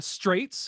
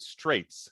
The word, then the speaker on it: Straits: Why is it Straits? How is it not Strizo? So my problem is the band reference is Dire Straits. Right. So it's Strizo or however you want to pronounce it, but I keep calling him Straits because I can't.